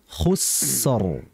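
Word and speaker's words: خسر: ya Wal kemudian tadi hati-hati sinnya itu kayak Shad ya khusor hati-hati ditipiskan khussor Jadi biasanya mungkin ketika khu itu bibirnya Enggak kembali khusor harusnya kembali khusor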